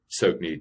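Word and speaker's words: Tsoknyi: There's a guy called Sokhni Rinpoche, and Sokhni is spelled T-S-O-K-N-Y-I, and Rinpoche is a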